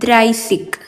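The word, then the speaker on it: dreißig: 30ന് പറയുന്നത് ദ്രൈസിക്, ദ്രൈസിക്, ദ്രൈസിക്. ഉച്ചാരണം സെയിം തന്നെയാണ്, ആ ലെറ്റർ മാത്രം വ്യത്യാസമുള്ളൂ.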